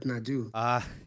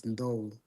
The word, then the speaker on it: Ndou: It's no, not Nadu. Yeah, Australians have butchered my name so bad. Everybody calls me Nadu, Nadu, but the right pronunciation is Ndo. So try your best.